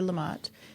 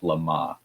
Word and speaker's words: LeMat: Now, I took the wrong language in high school and college, so my French pronunciation is probably awful, but I've heard it pronounced LeMat.